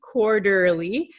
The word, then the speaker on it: quarterly: So quarterly, quarterly, this T is going to become a flap T. So it sounds like an English soft D sound.